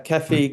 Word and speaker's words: Kefi: Yeah, Kefi, gold and copper.